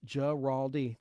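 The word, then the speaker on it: Guaraldi: chimes in Gerald geraldi in Vince geraldi is pronounced geraldi thank you Wesley I couldn't do it without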